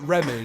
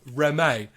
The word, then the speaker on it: Reme: Like nobody can pronounce their name like how it's spelled. Like, 'cause I was like, oh, is it Remy? She's like, yeah, Remy. Yeah. And like, no. She's like, no, it's Reme.